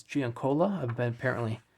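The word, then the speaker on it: Giancola: Sean span Donado gianola which I always thought was Jan Carlo but it's Gian Cola I've been apparently saying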